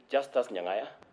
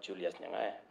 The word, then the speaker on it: Justus Nyangaya: Justus Nyangaya, not Julius Nyangaya. The name Julius and Justus in pronunciation.